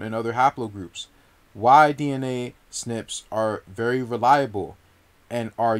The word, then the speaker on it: SNP: group or migration pattern the term snp would pronounce snip means a single nucleotide